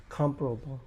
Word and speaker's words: comparable: stressထားတယ် firstible ကို stressထားတယ်အဲ့ဒါကြောင့် compareable ထဲမှာသူ့မှာ syable ရှိပြီးတော့ပထမ syllable ကိုပဲ stress comparable ပေါ့နော်အဲ့တော့ the two products are comparable in quality